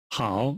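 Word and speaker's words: 好: the tone a little hao means good it sounds like how in how are you how now let's get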